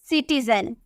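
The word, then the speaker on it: citizen: और देखते हैं जैसे सिटीजन, हम सिटीजन लिखते हैं ना तो इसे यहाँ पे आपको सी के बाद क्या नजर आ रहा, आई नजर आ रहा, सी के बाद अगर आई हो तो उसकी प्रोनाउंसिएशन सौ में किया जाता है, किसमें, सौ, शो नहीं सौ, तो हम इसे क्या बोलेंगे, हम इसे बोलेंगे सिटीजन, हम इसे बोलेंगे सिटीजन।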